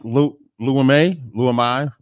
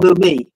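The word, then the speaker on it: Leumi: That's the original name of the bank, Luamai. If I'm saying it wrong, Lumi.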